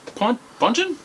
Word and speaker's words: Ponchin: Ponchin. Like punchin? Ponchin. Like punch. I was thinking like punch from like Eric Estrada.